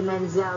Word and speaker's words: Menzel: You said it nice, Idina, and I like to say Menzel. It sounds like oil. Yeah. By Menzel Oil.